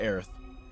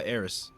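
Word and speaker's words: Aerith: I I've always pronounced it Aith. I never pronounced it uh Aerys because I know it's like a it's like a it's like an al allegory or like an illusion to the word earth.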